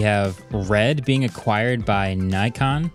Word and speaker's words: Nikon: red being acquired by Nikon Nikon Nikon is actually how it's said theoretically anyway uh cybertruck